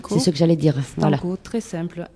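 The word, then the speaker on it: Stanko: Stanco, ils ont tous une page donc voilà on peut on va dire comment ça s'écrit. Stano. Oui c'est ce que j'allais dire. Stano.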